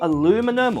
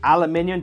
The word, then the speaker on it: aluminium: the iPhone 17 Pro Max is that more aluminum or aluminium, depending where you are in the world and